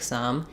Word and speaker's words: some: as in i'll take some and this kind of sum as in the sum of two numbers have the same pronunciation so if it helps